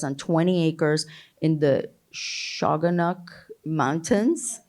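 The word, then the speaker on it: Shawangunk: Amanda now lives on 20 acres in the shagun mountains how do you say that shanka okay all right mountains with with her husband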